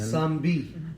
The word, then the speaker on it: Nzambi: word of the spirit, is it Nzambi, when it's spelled with an N? Zambi. Right.